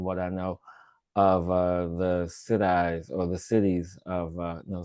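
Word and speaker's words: सिद्धि: indigenous shamans, combining what I know of the Siddhis or the cities of no Siddhi, that's how it's pronounced, of India.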